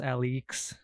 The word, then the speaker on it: Alyx: I like to think the way they spell Alex is pronounced Alex. They spell it with a Y.